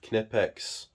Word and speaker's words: Knipex: My Klein, good grief, Knipex. Yes, the K is not silent in this. This is how words should be pronounced.